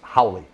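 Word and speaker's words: Howle: holly holly howly howly h.o.w.l.e i pronounce it howly we're hollies oh okay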